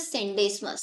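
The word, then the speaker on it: Scenedesmus: इसमें S silent रहता है बच्चों। This is सेंडेस्मस।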